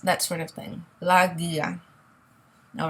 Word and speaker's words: guía: The U here is really just a placeholder, okay? So we're not going to pronounce it. There's an accent on the I, so we're going to make sure the stress is on that letter.